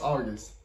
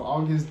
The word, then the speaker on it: Agust: say that name August D y'all say it's pronounced August so August the um other song titled he gium I